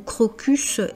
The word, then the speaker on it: crocus: Et bien, tout simplement, le mot crocus est latent. Donc c'est pour ça qu'on prononce le s.